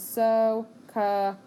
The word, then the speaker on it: SOHCAHTOA: It is spelled exactly as it sounds. SOHCAHTOA.